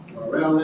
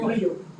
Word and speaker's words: Murillo: Yeah, one more sign up, Morelli, I believe it is. Murillo. Yes, hello, my name's Murillo. What was your name? Murillo, I'm sorry. that's the way it's pronounced.